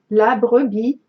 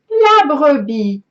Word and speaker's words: La Brebis: La Brebis. La Brebis.